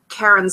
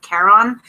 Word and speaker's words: Charon: to the underworld via Karen's boat, or Sharon, I say Sharon, but I think it's pronounced like Charon, and then I just think I'm saying Karen, and then I'm like, no, I'm not calling somebody Karen.